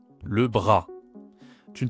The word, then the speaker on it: bras: Ici pareil, le S ne se prononce pas.